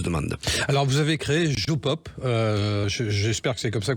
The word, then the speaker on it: JoPop: Alors, vous avez créé Jopop. J'espère que c'est comme ça qu'on le prononce.